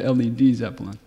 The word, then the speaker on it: Led Zeppelin: didn't want the lead because they thought they pronounced it as lead Zeppelin so they Chang it to Led Zeppelin okay uh in the current day and age